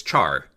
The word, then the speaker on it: char: Unlike integers, okay, then the next data type we have is char, meaning in character. Char are pronounced like the word Charizard.